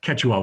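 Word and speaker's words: Quechua: was called K kachua I did this with Google pronunciation and it kept telling me I was doing wrong Keta Keta I was over pronouncing the O ketua was the language of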